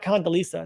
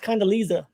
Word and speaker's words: Condoleezza: And again, you can mispronounce it, but 2 E's and 2 Z's. That's not Lisa. That's not Condoleezza. That's Condoleezza.